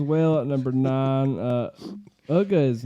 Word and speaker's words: Uga: at number nine uh ugga is not cool for me I thought it was just UGA they pronounce her UGA ugga okay usually in a